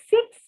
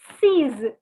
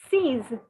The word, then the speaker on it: six: changed the pronunciation so it is not pronounced as six but it is pronounced as seas seas okay like uh scissors